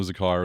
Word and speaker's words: izakaya: We went to an izakaya.